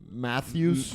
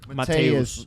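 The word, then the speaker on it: Matheus: Or as And- Riley pronounces it, Matthews. Mattheus Cunha. How would you pronounce it? Mateus, like his name's Mateus.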